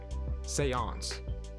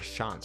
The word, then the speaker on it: Seance: strong plays for real Seance Seance okay Seance scanner I didn't know how to pronounce it so thank you for telling me how I was saying like shant or like s scanner Seance okay Seance scanner cool